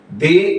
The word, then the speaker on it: the: ability এটা কিন্তু দা ability পড়া যাবে না দি ability to decide things make এই যে রাইট